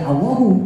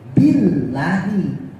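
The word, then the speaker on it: بالله: Allahu Akbar Allahu Akbar tapi lafaz Allah yang Doma ini harus berubah menjadi kasrah ketika kemasukan ba maka ketika ada ba bukan lagi Allahu tapi Billahi bukan billahu paham paham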